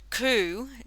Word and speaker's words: coup: It says, however, you use the word coup, don't say the P at the end. It's not pronounced like chicken coop. It sounds more like a dove's coo.